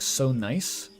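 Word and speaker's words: Sonajiz: Sona Jizz Temple is actually pronounced like so nice.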